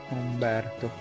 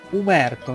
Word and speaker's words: Umberto: simpi umber to vado Umberto ti chiami umerto No no ho sbagliato a scrivere Non mi chiamo umerto mi chiamo Umberto non sai pronunciare il